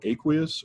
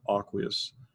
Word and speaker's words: aqueous: we say are aqueous people pronounce that word aqueous or aqueous aqueous means that it's